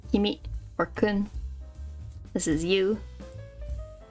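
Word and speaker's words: 君: get some of the more common ones like Kimi or Kun this is you or couldn't which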